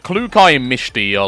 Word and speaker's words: Klukai: Clucky. Yeah, her name is pronounced Klukai, which, you know, isn't too much different from what you just said.